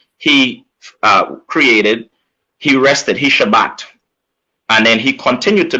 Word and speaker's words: Shabbat: So, okay, so when you say rest in Hebrew, how do you pronounce it in Hebrew? Shabbat.